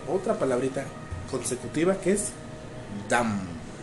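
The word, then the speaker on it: דם: Se pronuncia Dam. DM. Dam.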